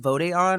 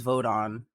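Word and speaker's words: Vod'e An: Well, okay, so you said it's pronounced Vodeon? I thought it was Vodon. I'm pretty sure it's Vodeon because yeah, it is. Because Okay. vote is the singular, Vode is the plural.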